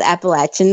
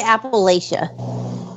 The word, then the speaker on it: Appalachia: But I made a post that apparently people pronounce Appalachian wrong, and it said if you pronounce it Appalachia, I'll throw an apple at you.